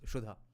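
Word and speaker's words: Sudha: of nectar yes in in Bengali we will pronounce it pronounce it as shudha are poet commentary okay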